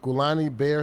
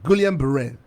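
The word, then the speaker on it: Guillain-Barré: whether it is this what is this gulani bear syndrome am i mispronouncing that uh guillain-barre they're legitimate however here's another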